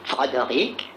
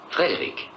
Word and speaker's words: Frédéric: Est-ce que vous dites aussi Fredoric ? Non, Frédéric. Vous pourriez dire Fredoric Frankenstein. Je regrette, c'est Frédéric Frankenstein.